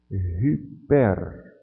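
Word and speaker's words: ὑπέρ: A aspiração áspera, a gente lê como se fosse um H pronunciado antes da vogal ou do ditongo. Então, por exemplo, aqui, como é que eu vou ler essa palavra? Eu vou ler hyper. É como se tivesse um H aqui na frente do Y.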